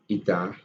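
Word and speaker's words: η: So the efficiency, which is represented with this symbol, which is pronounced as eta, okay, is equal to the work output over heat input.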